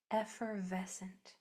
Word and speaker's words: effervescent: These two Fs are one sound. F V. This S and C are making one sound actually.